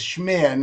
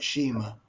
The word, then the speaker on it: Shmear: us please yes and it's the shmear room but you were close Okay I have to get the pronunciation correct you were very close shmir not Shima but you you yeah shmir but you you were you were right there in the in the ballpark Captain Jim and yes